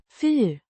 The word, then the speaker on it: för: Pronounced Für. similar to the German word.